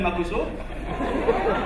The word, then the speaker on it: Makoso: Bon, Cosmas, c'est pas vraiment mon nom, mais je m'appelle Makoso. Et comme à l'école, mes amis avaient souvent du mal à bien prononcer mon nom, c'est-à-dire au lieu de dire Makoso, certains m'appelaient...